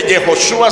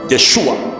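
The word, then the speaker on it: ישוע: del nombre hebreo jehoshua pero contraído no se dice jehoshua sino yeshua yeshua yeshua es traducido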